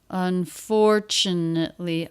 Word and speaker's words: unfortunately: and unfortunately and unfortunately unfortunately a longer word their second syllable stress unfortunately the rest of